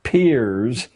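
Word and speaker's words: Peirce: philosopher human history has produced he was it's pronounced Pier but it's spelled as if it were Pierce Charles S Pierce a strange figure a part-time lecturer at Harvard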